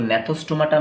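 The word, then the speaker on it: Gnathostomata: तो gnathostomaटा में यहाँ पर जी का जो प्रोनाउंसिएशन है साइलेंट रहेगा, प्रोनाउंस कहाँ से होगा, एन से यहाँ तक प्रोनाउंस होगा, तो gnathostomaटा ऐसे प्रोनाउंस होता है।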